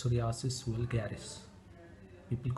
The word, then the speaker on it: psoriasis: so it's called its psoriasis will garis people call it psoriasis it starts with the letter p p s o r i a s i s the p is silent so it is spelled